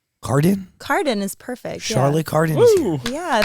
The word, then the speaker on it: Cardin: uh I don't want to pronounce your last name wrong Carden Carden is perfect Charlotte Carden yeah thanks for having